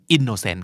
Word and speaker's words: innocent: indocin indocin จะไม่ออกโนเซนต์ซะทีเดียวเพราะมันเป็นพยายามที่ไม่ถูกเน้นนะครับเพราะมีถูกเนียนปั๊บส่วนใหญ่บ่อยๆเลยจะกลายเป็นชวนนะครับเนื้อสัตว์ isn't a เอ่อ inson นั่นคือ innocent ครับ มีความ inspired นั้นทุกคนต้องการทำไมเราถึงรู้สึกไม่อยากทะเยอทะยานไม่มีเรี่ยวแรงไม่มีกำลังใจอยากจะลุกขึ้นมาทำอะไรอยากจะหาอะไรมาเป็น inspired หลอกซะหน่อยอยากจะหาอะไรมาเป็น inspiration นะครับมาจากเวิร์ค